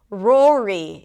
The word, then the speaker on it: Rory: We start with an R sound. Then it's the or as in four. So R and then O. Keep the tongue down. And then another R. Round the lips. Bring the tongue up and finish it up with a high E. Pull the lips to the sides of it.